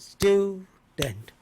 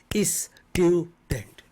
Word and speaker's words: student: teacher two syllables teacher student student not is student don't cut don't make three students school school not